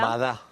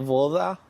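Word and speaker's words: вода: Vada. Claro. ¿Y por qué vada y no voda? ¿Por qué? Porque acá los rusos tienen una regla bastante particular, que la o la pronuncian como si fuese una a.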